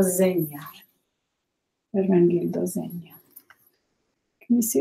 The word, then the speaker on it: Zegna: All right, here's that word, that name that people have trouble pronouncing. I do too, but I know a little Italian. It is Ermengildo Zegna. Ermengildo Zegna.